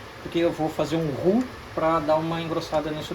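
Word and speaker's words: roux: que é o ru você escreve r o u x RX vai se pronúncia ru Isso é uma técnica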